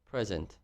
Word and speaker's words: present: one is word stress some syllables are louder አንዳንዶቹ በጣም ጮክ ብለው ነው የሚነገሩት አንዳንዶቹ ደግሞ ዝግ ብለው ነው የሚነገሩት አሁን ለምሳሌ present የሚለውን present እና present እሺ present PRU ወይም ደግሞ PRE loudly ከተነገረ ምን ይሆናል አሁን ላይ